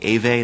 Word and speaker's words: Ewe: group for those is the group called the Ewe, that's spelled E-W-E.